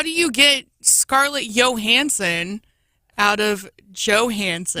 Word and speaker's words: Johansson: How do you get Scarlett Johansson out of Johansson? Well, sometimes J's are pronounced like Y's in Europe.